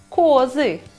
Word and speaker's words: козы: Но если их много, это уже козы. Ударение переместилось на О.